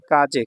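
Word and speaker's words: 風: শেষ কাঞ্জি এটা হলো কাজে কাজে মানে হচ্ছে বাতাস ঠিক আছে কাজে এটাকে ফু বলা হয় ফু ঠিক আছে কাজে ফু কা কাজে হচ্ছে জাপানিজ উচ্চারণ বাতাস আর ফু হচ্ছে চাইনিজ উচ্চারণ এটা যখন সিঙ্গেল থাকবে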